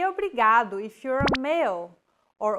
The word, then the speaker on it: obrigado: here in lesson two don't pronounce it like an English R don't roll your tongue listen to how Anna is pronouncing this sound the think of the quick tapping motion your tongue makes as it strikes the top gum Ridge in words like ladder or butter altogether it's a okay